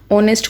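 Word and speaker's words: honest: ऑनेस्ट को आप ह तो यूज़ ही नहीं करते, एच तो यूज़ ही नहीं करते, ठीक है। तो ऑनेस्ट को आप ऐसे प्रोनाउंस करते हो, ओ से शुरू करते हो।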